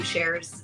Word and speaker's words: Sherz: that's how I explain how to say my name shares it's like the singer share more than one share that's me follow